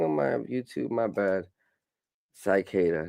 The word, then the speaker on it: Cicada: Cicada, not Cicada. Jeez, not like the bugs.